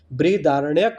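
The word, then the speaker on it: बृहदारण्यक: तमसोमा ज्योति गर्मय का उल्लेख बृहधारण्यक बृहधारणक उपनिषद में मिला है। थोड़ा सा प्रोनाउंसिएशन गलत हो सकता है। आप करेक्ट कर लेना। बृहधारण्यक बोला जाता है।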